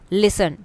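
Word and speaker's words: listen: लिसन T silent है।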